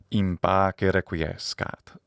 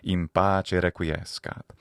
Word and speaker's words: in pace requiescat: And of course, old Doc Holliday gets the last word saying, in pace requiescat, or in the ecclesiastical pronunciation, in pace requiescat.